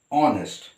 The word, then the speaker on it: honest: but it is here h is silent and we pronounce it as honest all right a vowel